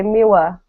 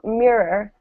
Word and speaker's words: mirror: A lot of children, so native English speakers, children have trouble pronouncing the word mirror. They say miwa, right? Kids say that.